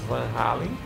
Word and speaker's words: Van Halen: Que é a minha pronúncia Dutch. É, exatamente, Van Halen. Van Halen, mas como eu tenho um amigo que é holandês, então eu falo em holandês, né? Van Halen.